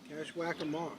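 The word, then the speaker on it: Kashwakamak: Can you pronounce it again? It's Cashwackamock.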